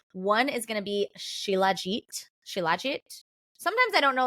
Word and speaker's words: Shilajit: I think like Shilajit to quit. Too legit to quit. Like that's how I remember how to say it actually.